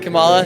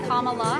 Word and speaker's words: Kamala: name by the way I pronounced Kamala you can tell a republican like a comma but yeah if you just do it like Kamala it's easy Kam whenever anyone